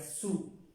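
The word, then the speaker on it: sous: encima estos de pronunciar su la otra es d encima encima encima está debajo de se pronuncia su lado era una la s no se pronuncia y no en el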